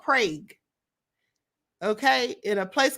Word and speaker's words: Prague: So it's Prague. That's how you say it, like a frog. It's called Prague.